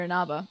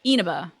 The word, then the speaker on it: Inaba: Or Inaba. But I usually do Inaba. With equal stuff on each one.